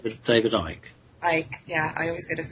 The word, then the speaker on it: Icke: Icke, yeah. I always get his name wrong.